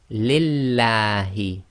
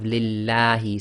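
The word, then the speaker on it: لله: Pronounce it with a la as in the name, as in the word lam in English. So again, Bismillahi, Alhamdu Lillahi.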